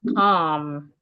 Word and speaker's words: calm: Letter L is silent in words like calm, fog, old, half, etc. So most times when we have letter L after a vowel, the letter L becomes silent and the vowel becomes a long sound.